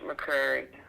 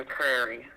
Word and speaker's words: McCrary: Oh, yes, Josh McCrary. Not McCleary, McCrary.